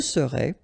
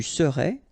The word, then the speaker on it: serais: Je serais, tu serais, il serait, elle serait, nous serions, vous seriez, il serait, elle serait. Okay, so let's see how it goes. Je serais, final S not pronounced.